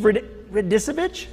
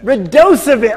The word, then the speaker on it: Radosevich: My guest, Radosevich? No. Oh, no. Radosevich. Oh, God, so close. Not the worst pronunciation.